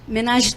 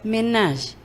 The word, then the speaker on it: ménage: Menage também é uma palavra francesa. Em português, nós falamos menage. Sabe? E em francês, ménage. não se pronuncia o final.